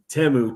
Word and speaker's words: Temu: you listen to Teemu I think it was just them telling people how to say it correctly because the song just kept saying TAMU TAMU TAMU I was like oh